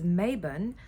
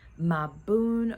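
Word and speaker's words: Mabon: of um maon or my Bon my bone um as some people pronounce it um a lot of people know it as Maan um but my Boon which is it is pronounced my Boon or my bone um is the Fall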